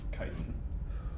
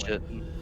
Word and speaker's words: chitin: Chitin. I'm pretty sure it's pronounced chitin with hard k, I think it is chitin. because the adjective version is chitinous of that word.